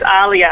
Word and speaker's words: Alia: It's Alia. Yeah. Alia, like the famous singer.